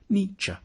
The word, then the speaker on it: Nietzsche: to pronounce his name the first bit should sound like knee the second like cha nietzsche then we need to